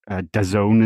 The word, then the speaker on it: DAZN: I think the Dazn approach, or Dazone as people are telling me in the comments, it's pronounced, where you do it